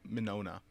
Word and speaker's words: Mignogna: News vic Mignogna which that's not how you pronounce his name but in Monona monona I'm gonna call him Megan on Mignogna the Gees are silent because well I'm gonna call